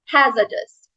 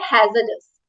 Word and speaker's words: hazardous: Okay, so next word we have is हैजर्डस। हैजर्डस, first of ऑल इसका हम pronunciation देखेंगे, इट्स नॉट हैजार्डस। Most of us pronounce it as hazardous, which is absolutely wrong. इसका correct pronunciation होता है hazardous, hazardous, which means involving danger, involving risk.